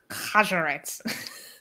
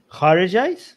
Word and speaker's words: Kharijites: I think it's really interesting how they came from the Khajarites. Yeah. That's how you say it, right? Well, not. Kharijites? Kharijites, thank you.